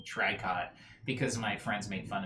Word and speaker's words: tricot: trying to think of i guess the name margot has a t at the end of it that's silent it's like a french